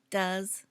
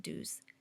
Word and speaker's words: does: Notice the pronunciation does, not do's.